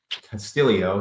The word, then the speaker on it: Castillo: actually, Isaiah Salinda and Ricky Castillo. Castillo. He has an extra syllable in there for no reason.